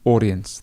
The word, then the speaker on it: audience: So the stress is at the beginning, audience.